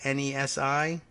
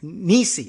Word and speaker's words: Nesi: Ted Nesi, Nesi, has been Nisi. Oh, thank you for putting pronunciation in your Twitter bio.